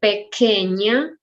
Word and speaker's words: pequeña: And pequeña, Q-U-E, sound K. Pequeña, it's 3 syllables.